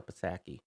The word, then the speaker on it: Psaki: I don't know it's a silent P.